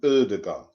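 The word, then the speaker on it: Ødegaard: Martin Odegaard. I don't. It's a silent D, isn't it? I think not O. It's as in turn, turn.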